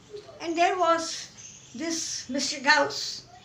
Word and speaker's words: Gauss: Now many pronounce it as Gauss, it is Gauss.